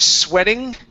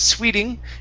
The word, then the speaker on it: sweating: to okay the word sweating okay short e sound instead of Sweeting it's sweating sweating sweating okay nice job you